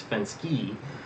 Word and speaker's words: Fenske: was saying it wrong I was saying gene fence before it turns out it's Fenske the I lost my